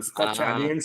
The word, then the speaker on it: Stacchiarini: Ah, Stacchiarini seria o italiano, né? é, Mas muita gente fala Stacchiarini. boa, eu falei, vou perguntar